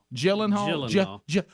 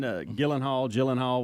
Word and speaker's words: Gyllenhaal: Gyllenhaal.